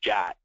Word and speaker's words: JWT: They use a JSON Web Token, which is abbreviated JWT and pronounced JOT. So you'll see, or you'll hear people say a JOT token.